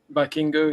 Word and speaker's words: Vikingo: The one that you were just trying to pronounce again? Vikingo, he's a AAA mega champion.